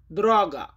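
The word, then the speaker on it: droga: রাস্তা বা পথ এটার পলিশ উচ্চারণ হবে দ্রগা।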